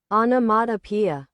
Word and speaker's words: onomatopoeia: Onomatopoeia.